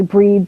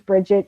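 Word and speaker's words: Brigid: It's actually Breed, but everybody knows it as Bridget because that's how it's spelled. Celtic spelling was created solely to confuse English-speaking people.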